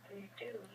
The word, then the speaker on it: reduce: So the first syllable is the schwa.